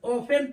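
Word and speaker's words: often: पर T silent है ओ एफ टी एन ऑफेन पढ़ते हैं टी य भी क्या होता है साइलेंट होता है ओन पढ़ते है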